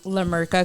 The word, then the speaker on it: La Merca: La Merca Company. La Merca? This one. Yeah. Oh, okay. La Merca. It's spelled just the way it sounds.